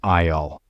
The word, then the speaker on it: aisle: The word is spelled HSLE, but the S is silent. It is pronounced aisle. Like your eye, you are looking for, let's say, baking powder.